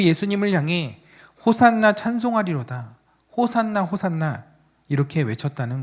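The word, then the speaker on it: הושענא: 그래서 그 예수님을 향해 호산나 찬송하리로다. 호산나 호산나 이렇게 외쳤다는 거죠. 어, 호산나의 히브리어 발음은 호아나입니다. 호슈아나.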